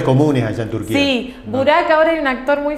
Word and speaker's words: Burak: Mi hijo es Burak, le puse un nombre turco también, porque se pronuncia igual que acá que allá, la misma pronunciación.